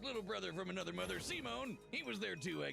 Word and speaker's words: Simon: Pronounced Simone is a mangaka in another universe.